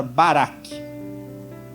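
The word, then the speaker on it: בָּרַךְ: abençoar é uma palavra que, transliterada, né, falada como se fala no original, é a palavra barak.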